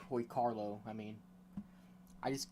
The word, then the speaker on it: Hoy Quarlo: got the old man Hoy quarlo Hoy Carlo I mean I just I always have the urge to say quarlo because it's how it's spelled but I'm gonna listen to the voice clip announcer this guy is like